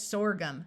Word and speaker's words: sorghum: OR says or, so this word is sorghum.